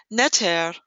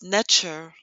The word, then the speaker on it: neter: called their language medu natir neter also pronounce nature means all existence or